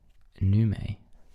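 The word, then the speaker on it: neumes: then was known as num spelled NE e u m e s it was spelled n e u m e s I had to look up the pronunciation for this one please excuse my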